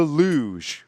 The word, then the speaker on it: Luj: week we learn about the Lou pronounced Lou because that's what it